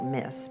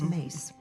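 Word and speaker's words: Myss: It looks like Miss, but it's Mace.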